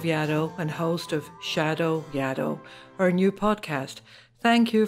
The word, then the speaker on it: Yaddo: what here's the thing yaddle rhymes with shadow hence the show's name